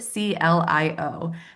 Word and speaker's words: CLIO: A fun fact, she is about to launch a podcast titled Code CLIO, pronounced Clio, which stands for Child Life Isn't Optional.